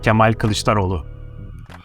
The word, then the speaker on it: Kemal Kılıçdaroğlu: That's a bit difficult to pronounce. It's Kemal Kılıçdaroğlu.